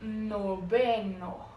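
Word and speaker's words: noveno: Ah, agora no nono em português, em espanhol, nobeno. Nobeno, de novo, a letra V com a pronúncia de B.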